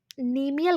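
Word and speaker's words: cnemial: नीमियल crest इसमें लिखा है, सी शायद इसमें साइलेंट है, सॉरी।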